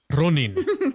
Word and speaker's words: Ronin: Ronin.